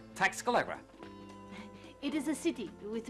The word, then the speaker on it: Tlaxcala: Only who can pronounce this name? I mean, it's Tlaxcala.